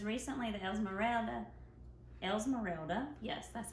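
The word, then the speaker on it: Esmeralda: is um melissa says recently the else morale else morelda yes that's how you say it um was released in the u.s i was wondering if you're gonna make more characters esmerelda was released well the figurine okay in the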